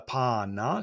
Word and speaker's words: panna: For the panna. So we see that A pronounced as an A.